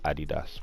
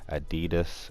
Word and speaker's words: Adidas: for my American fans I'm pretty sure that's how you guys pronounced Eddie does well in the UK you pronounce it Eddie - I think in the u.s. you guys perhaps it adidas if I'm correct oh yeah let me